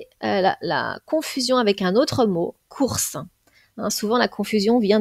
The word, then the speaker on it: cours: le mot court apprentissage pensez bien que le s est muet donc là on avons